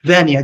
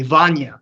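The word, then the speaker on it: Vanya: my name f correctly it's van like Tanya with the V oh thank you for correcting me Vana please yes and what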